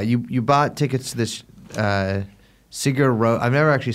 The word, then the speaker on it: Sigur Rós: You bought tickets to this Sigur Rós. I've never actually said it, the words out loud. How do you pronounce it?